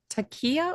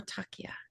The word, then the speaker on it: Takia: Is it Teaia or Takia? I'm probably saying it wrong. No, you got it right the second time.